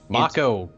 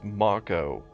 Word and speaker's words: Mako: to take he's about to force uh Mo Mako God say his name right sorry he's about to force Mako there we go to make you know into